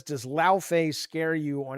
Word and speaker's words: Laufey: He says, "No, Jaffy, it's Laufey."